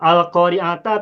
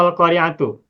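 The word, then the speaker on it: القارعةُ: Kalau Al-Qari'ah itu kita baca di mushaf Al-Qari'ata atau Al-Qari'atu bacanya. Bacanya ada Al-Qari'atu. Al-Qari'atu dhamma ya. Ya. Kalau Al-Jumhur Al-Qari'atu. Di Raf'i Al-Qari'ah. Kebanyakan ulama qiraat membacanya Al-Qari'atu dhammah. Al-Qari'atu, bukan Al-Qari'ata, juga bukan Al-Qari'ati.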